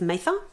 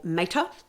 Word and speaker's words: Mather: We are introduced to a girl by the name of Edith Mather, or Mater, depending on how you pronounce that, M-A-T-H-E-R.